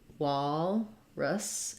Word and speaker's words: walrus: So for walrus, it's like the word wall, which has the ah sound, walrus, and then an I or a schwa for the second syllable.